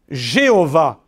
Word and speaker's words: Jéhovah: Or, le nom Jéhovah, qu'on entend ici et là, que nous avons même dans certains de nos cantiques.